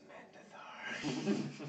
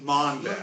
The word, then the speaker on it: Mondath: We guys- need to talk to Mandathar. Mondath. Mondath, whatever. No, he disrespects Mondath by saying his name wrong.